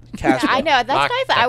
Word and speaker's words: Casbah: It's Casbah. Casbah. I know. That's guys. I wasn't sure. I didn't know it was Casbah. You gotta say it like you're from Boston.